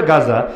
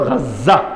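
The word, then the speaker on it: غزة: লেখা দরকার হলো গাজা বাংলায় বলে গাজা আরবিতে উচ্চারণ হলো গাজ্জা গাজ্জা ওই গাজ্জা শব্দটারে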